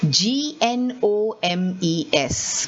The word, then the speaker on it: gnomes: i'm saying knights and the second spelling is g-n-o-m-e-s but i'm saying gnomes i'm not saying gnomes